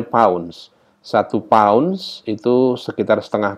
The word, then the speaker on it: lbs: dengan pylons biasanya simbolnya tulisannya LBS lips lips ya Tapi bacanya pounds 21 paunch itu sekitar